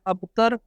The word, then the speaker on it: ابتر: یہ 4 حروف ہیں، ابتر، الف کے اوپر بھی زبر اور تے کے اوپر بھی زبر، اسی طرح اختر، الف کے